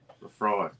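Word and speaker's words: Laphroaig: y'all don't I mean y'all can laugh but Leafroy Lamb Lambfrog. Sorry. And you you did you did pronounce it absolutely correctly. Oh okay. Leafroy.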